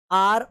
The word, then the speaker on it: hour: आर after आर, यहाँ पे HOUR में H भी साइलेंट है, O भी साइलेंट है, U भी साइलेंट है, बस R को आपको रीड करना है, ठीक है, जो सॉरी प्रोनाउंस करना है।